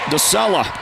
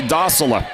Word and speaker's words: Docela: Here's the inbound once again for the Vandals, and a nice little left-handed jump shot for Demetria DeSella. Well, I should say Docela.